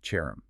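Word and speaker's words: חרם: The Hebrew root word for a sacred ban, or an oath of total destruction, is spelled Cherem, pronounced Cherem.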